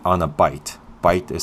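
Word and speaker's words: bight: here, I put a figure 8 on a bite. Bite is spelled B-I-G-H-T, and what bite means is just a loop.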